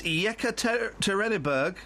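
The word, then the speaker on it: Yekaterinburg: first I want to hear what what's the pronunciation of that Russian town oh for crying out loud it's yeka terberg oh that's brilliant are you have a friend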